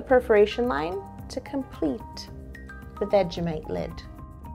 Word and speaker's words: Vegemite: veggie vegemite vegemite vegemite vegemite not veggie mate mate is a friend okay yeah like you're